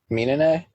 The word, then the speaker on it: Minene: Is it Menene or Menine? Minene? That's how they say it. That's how they say it in the dub.